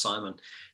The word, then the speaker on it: Simeon: his name is spell simeon but it's pronounced simon oh that's a new